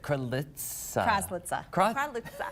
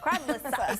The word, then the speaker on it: Kraslice: of, I already forgot how to say it, Kraslice. Kraslice. Still can't say it. One more time. Kraslice.